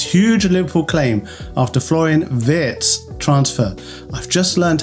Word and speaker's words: Wirtz: Liverpool claim after Floren Vitz transfer. I've just learned how to say I used to say vert and someone thankfully corrected me in a comment. They said it's Vitz, not Vertz. Floren Vitz Vitz.